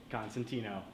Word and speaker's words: Constantino: works out that way last names Constantino rhymes with cappuccino hearing is actually to